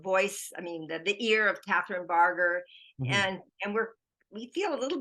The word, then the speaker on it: Barger: Barger.